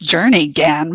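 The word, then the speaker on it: Jernigan: and got Yan Florida it's actually pronounced Journey Gan by the locals um he um he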